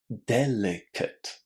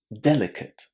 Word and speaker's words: delicate: Uh and then the t delicate delicate. All of this is because the ending is not stressed.